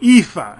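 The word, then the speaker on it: EAFE: everybody including the United States and then the epha and that's how it's pronounced Europe Australia and the Far East and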